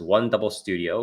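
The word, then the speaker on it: 100studio: new digital animation studio named 100 studio pronounced one double studio which crest will manage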